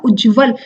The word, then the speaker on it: उज्ज्वल: उज्ज्वल से तो दोनों, तो सही उच्चारण हमारा इसका क्या है, अक्सर बच्चे क्या करते हैं, अशुद्धि करते हैं और इसकी जगह क्या करते हैं, पूरा फुल ज लिख देते हैं, जो कि गलत होता है।